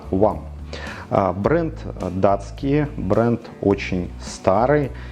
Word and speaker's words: Hwam: будет называется он вам пишется название из четырех букв х вам но читается правильно one бренд датский бренд очень